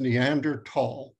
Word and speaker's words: Neanderthal: is without the H the pronunciation is neander tall even if you're doing it in English or in German or in Latvian or in circle Croatian or in Nepalese it's Neanderthal so yeah that period Laura